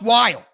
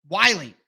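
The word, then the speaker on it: Whyle: of like it because he's like a Wily coyote you know what I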